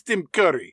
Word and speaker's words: Tim Curry: introduce myself my name's tim curry pronounced within hurry you ladies know that